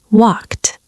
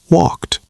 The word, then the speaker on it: walked: Walked. Cook. Cooked. Ah, I hear it. It's not walk. two syllables. It's just one syllable with a t sound at the end. Walked.